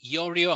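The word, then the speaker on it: Iorio: My surname is pronounced Yorio.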